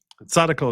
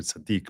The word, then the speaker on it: tzaddik: Tzaddikel is not a derogatory thing, just so you know.